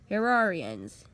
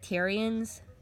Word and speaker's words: Terrarian: Skylander series, Realm Terrarians. Yeah, I used to pronounce that Terrians until I've figured out, oh, this is Terrarian, like the game Terraria.